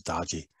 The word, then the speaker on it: doji: be considered as a some people pronounce as doji some people pronoun says dodgy that can potential that